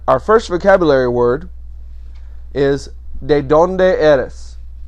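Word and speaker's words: ¿De dónde eres?: first vocabulary word is de donde eres de donde eres de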